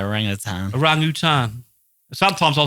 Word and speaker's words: orangutan: that family or whatever the fuck, orangutans actually pronounced orangutan. Orang-utan. Orangutan. Depends how you want to pronounce it. That's how it is pronounced. Attenborough pronounced it. He says tan, I think. He says orang-utan, doesn't he?